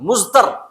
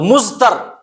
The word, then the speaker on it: مضطر: کا لفظ استعمال ہے، مضطر، دواد کا تلفظ اردو میں زاد کی طرح ہوتا ہے نا، تو مضطر، اور مضطر کسے کہتے ہیں؟